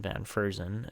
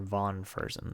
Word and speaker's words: Von Fersen: prospect again here in Van Fersen, and or Von Fersen, sorry is how you say it.